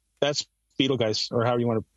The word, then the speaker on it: Betelgeuse: That's Betelgeuse, or however you want to pronounce it. Betelgeuse, Geist, whatever. I say it like in the movie. Beetlejuice, Beetlejuice, Beetlejuice.